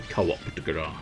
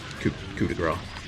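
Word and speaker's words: coup de grâce: It's the co-op de grace. Or technically, I suppose you could just say it's the co-op de grace, but it's supposed to be grace. It's coup de grace.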